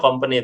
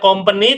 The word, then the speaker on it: company: Nah itu betul menyebutkannya company, tetapi in English tidak dibaca company tetapi company.